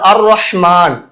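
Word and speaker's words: الرحمن: இடத்துல அல் ஜிக்ர்னு சொல்லக்கூடாது அடுத்தது அர் ரஹ்மான் அல் ரஹ்மான்னு வரக்கூடாது அதே மாதிரி அஸ்ஸௌஜ் இந்த இடத்துல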